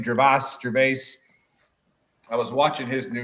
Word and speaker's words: Gervais: Gervais.